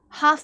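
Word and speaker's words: half: हालफ नहीं पढ़ते हो आप। हाफ पढ़ते हो।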